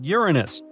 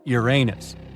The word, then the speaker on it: Uranus: upper atmosphere well well we've been miscalling Uranus all this time actually astronomers say we should be pronouncing it like Uranus not Uranus I can't say a different stress changes much though however things could have